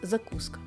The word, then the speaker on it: закуска: Наголос на другий склад - закуска.